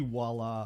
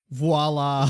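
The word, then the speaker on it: voilà: no no voila yeah whenever I see Walla I'm like oh my God it's voila voila I've never seen anyone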